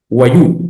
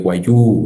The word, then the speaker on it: Wayuu: Eh, ahí podemos notar el uso de la de la de la vocal larga en guayú, ¿verdad? Guayú, no es guayú, es guayú.